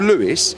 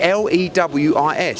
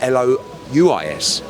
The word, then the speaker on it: Louis: Louis is French for Louis. If you wanted to be called Louis, it would be Lewis. So your parents, right? No offence, right? We like Louis, which is basically a French name pronounced Louis. It's not Louis. It's never been Louis.